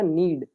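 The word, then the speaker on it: knead: टू नीड the floor यहां पे नीड में हमारा के साइलेंट होगा इसे पढ़ा जाएगा नीड कई लोग यहां पे नीड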